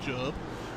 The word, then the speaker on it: Job: the official explan uh the official confirmation that it is job uh is his surname uh pronunciation uh Ben conand duras